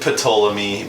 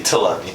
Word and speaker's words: Ptolemy: Some would pronounce it Ptolemy, but it's really Ptolemy, alright?